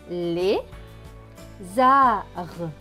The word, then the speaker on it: lézard: the art un art le d à la fin ne se prononce pas puisqu'il écrit en bleu donc ce monde va se lire les arts les arts les arts